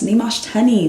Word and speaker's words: Nyamuoch Teny: so don't try my name is nimash yes nimashtani that's me if that's all you know